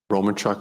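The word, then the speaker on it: Romanchych: mt chris roman chich it's r-o-m-a-n-c-h-y-c-h who's that roman chuck as it's pronounced is uh was a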